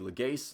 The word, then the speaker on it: Legace: to renew goaltending coach Manny legace that's the pronunciation I'm rolling with on his last name uh well this video